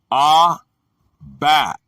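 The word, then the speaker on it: אָבַק: The word is abak, pronounced abak, a primitive root, probably to float away as vapor, but used only as denomination from 80 to be dust.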